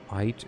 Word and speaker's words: Eid: Eid is pronounced like eat. Oh, okay. Yeah, that's the German in me. So like E and I is pronounced as I.